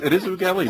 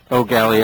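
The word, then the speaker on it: Eau Gallie: If you've been around Florida long enough, it is Oogallee, not O'Galley or Oogallee.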